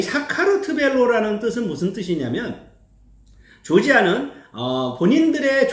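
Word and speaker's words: საქართველო: 이게 발음이 되게 어려운데요. 사카르트벨로. 이 사카르트벨로라는 뜻은 무슨 뜻이냐면 조지아는 본인들의 조상이 노아의 후손인 야벳이죠.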